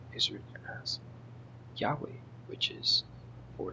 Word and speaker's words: Yahweh: So then it says the original pronunciation was likely Yahweh. Yhovah is a later Latinized form based on a misunderstanding of the vowel system.